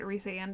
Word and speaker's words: Rhysand: It hurts to say it Rhysand, even though I know that's the correct pronunciation.